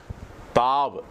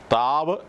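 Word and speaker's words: Taw: ഓഫ് സിറിയക്ക Alphabet twenty second letter is called താവ് ടി എ യു താവ് എന്നുള്ളതാണ് ഈ letter താവ് എന്ന വാക്കിന്റെ അർത്ഥം സൈൻ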